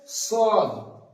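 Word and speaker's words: ص: তারপর আছে সদ, সদটা উচ্চারণ করতে হবে সদ, দদ, এই দুটো অক্ষর এখানে এঁকে দিয়েছি দেখুন।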